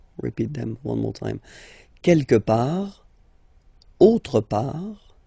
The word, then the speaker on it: quelque part: Quelque part. Don't pronounce the final T. Quelque part.